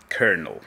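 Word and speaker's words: colonel: Kernel. Ja nie będę tego tłumaczył nikomu. Pisze się kolonel, czyta się kernel.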